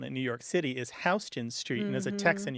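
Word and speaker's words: Houston Street: New York City is hon Street and as a Tex and you probably appreciate that many people from the rest of the country assume that it's pronounced Houston as in Sam Houston U but it isn't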